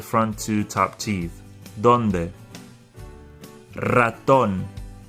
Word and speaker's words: ratón: Ratón. The word starts with an R, so it has the R sound.